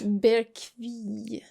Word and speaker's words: Bergkvist: God Also, damn it's Bergkvist. Bergkvist. You would only pronounce the S in the end if it were followed by an E.